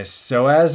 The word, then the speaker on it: psoas: an issue with my psoas muscle, which if you want to look it up, it's spelled PSOSA, not SOSA, which is ridiculous. What's with these P's in front of words?